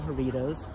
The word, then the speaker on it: Jaritos: My husband is Michael Jaritos. Pronounce it like Doritos.